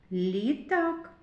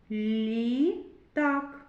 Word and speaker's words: літак: Лампа, літак. У слові лампа звук л твердий. Вимовляємо твердо і позначаємо його однією рисочкою. У слові літак. Звук ль м'який. Ми його вимовляємо м'яко.